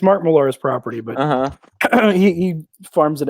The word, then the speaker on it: Millar: Mark Millar. Mark Millar. It is fun to say like that. This is Scottish, so you should probably pronounce it Millar, something like that.